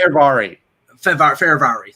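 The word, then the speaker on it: Fehérváry: Okay, Washington is saying Martin Fevrier. I think that's how you pronounce it. Fervari.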